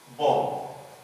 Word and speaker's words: bomb: And even bomb. Here the B is not pronounced.